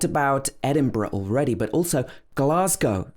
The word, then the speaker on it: Glasgow: edinburgh already but also glasgow is one that a lot of people get wrong it's not glasgow it should be glass go with o at the end glasgow also that s is